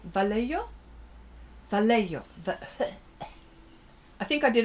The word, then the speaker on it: Vallejo: to start with okay, the Y in Vallejo is pronounced like a H. It's Spanish. Okay, Vallejo?